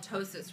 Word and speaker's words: ptosis: plastic surgery it's called ptosis repair it is spelled p-t-o-s-i-s and it is the most commonly mispronounced surgery that we do here at the office the p is silent so um in ptosis